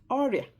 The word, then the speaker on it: oria: One, disease, disease, oria. Oria. Oria. I'll spell it in English.